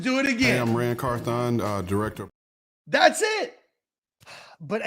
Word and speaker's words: Carthon: carthon uh director and carthon ran carthon three syllables carthon not rancorthon I think it's like carthon okay I'm carthon